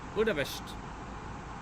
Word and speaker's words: Budapest: Budapest. Budapest. This is how they pronounce it.